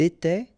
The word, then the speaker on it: était: Remember, final S, here, here, final T, and then here, E-N-T. You don't pronounce them. So you will get était, okay, for all these forms, okay?